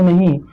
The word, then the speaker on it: know: इसको बहुत से लोग कनौ पढ़ते हैं, इसको कनौ नहीं, इसको नो पढ़ेंगे।